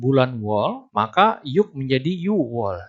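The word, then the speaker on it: 유월: Tapi ketika bertemu dengan satuan bulan wol, maka yuk menjadi yuwol. Dibacanya yuwol tanpa memasukkan G-nya.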